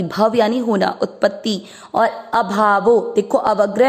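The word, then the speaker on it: ऽभावो: यानी होना, उत्पत्ति, और अभावो, देखो अवग्रह है, अवग्रह को आप उच्चारण में अ नहीं पढ़ते लेकिन अर्थ में अ लेते हो तो अभावो, अभाव होना यानी विनाश,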